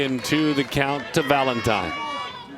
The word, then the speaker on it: Valentine: She just said last name pronounced like the holiday.